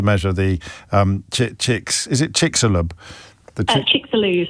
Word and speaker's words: Chicxulub: Chicxulub is how you pronounce it.